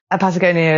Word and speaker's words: Patagonia: Patagonia is pronounced Patagonia in Welsh.